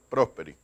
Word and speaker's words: Prosperi: ¿Me vas a aclarar, Carlos, cómo es la pronunciación correcta? ¿Es Prosperi o Prosperi? Prosperi.